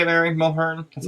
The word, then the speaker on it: Mulhern: Mulhern? That's how you say it. Mulhern.